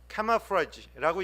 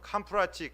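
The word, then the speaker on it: camouflage: 얘기하지 않습니다 카멜레온의 변화는 카마프라지라고 얘기하는 불어에서 온 날입니다 이걸 옛날 일본식 발음으로는 캄프라치 캄프라치 그랬죠 캄프라치라는 것은 무슨 말이냐면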